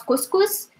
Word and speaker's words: couscous: This is how we pronounce couscous. So we write it as the normal, as we write it in English or in French, but we pronounce it couscous.